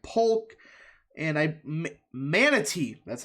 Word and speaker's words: Manatee: And also, he won Tampa by 3 percentage points, if you include places like Polk and Manatee.